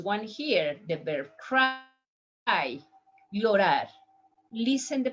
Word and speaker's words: llorar: Next one here, the verb cry, llorar. Listen the pronunciation. Llorar, llorar, llorar.